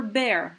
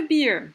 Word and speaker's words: bear: polar bear polar bear you remember bear right so not a beer pay attention to your pronunciation so polar bear a